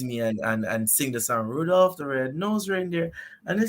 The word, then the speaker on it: Rudolph: My joke was, oh, Rudolph is French, and you're not even pronouncing it right. It's actually Rudolph. It's Rudolph. You have to roll your tongue because it's French.